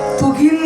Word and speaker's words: துகில்: அர்ஜுனன் அவருடைய வஸ்திரத்தை கொடுத்தார் துகில் என்றால் ஆடை துயில் என்றால் தூக்கம் ஒரே ஒரு எழுத்துதான் உச்சரிப்பு மிக மிக முக்கியம் உச்சரிப்புதான் தமிழ் துகில் என்றால் ஆடை துகில்